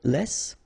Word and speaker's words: les: you want to say Les it's in French so no discussion about the S here don't pronounce it okay and then you